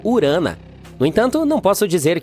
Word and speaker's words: Urano: Bem, bem, estamos chamando Urano de forma errada todo esse tempo. Os astrônomos dizem que deveríamos pronunciá-lo como urana.